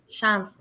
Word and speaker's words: Chanvre: Chanvre. So Chanvre. it's chanvre, yes. So Chanvre. the R Okay. is silent, yes.